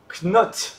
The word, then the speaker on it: knot: Alors, on ne dit pas le K normalement.